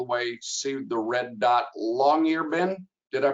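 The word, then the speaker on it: Longyearbyen: Norway all the way to the Red Dot long ear bin did I pronounce that right Lynette you got it right long air being to be in and that's the airport there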